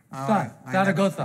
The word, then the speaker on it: Zaragoza: And they pronounce their Z's as T-H's. Zaragoza.